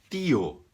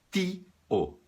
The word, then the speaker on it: tío: T é T e O é O. Tio. Tio. Tio. Mi tío. El hermano de mi padre es mi tío. Tio, não tio. Senão o cara entende outra coisa, tá bom?